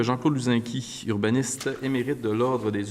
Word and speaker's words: Luzinski: Ah, on dit Luzinski? Luzinski, je veux bien le prononcer.